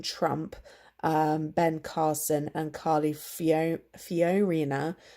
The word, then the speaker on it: Fiorina: ben Carson and Carly Fiorina can never pronounce her name properly but it's FIO RI na only those three candidates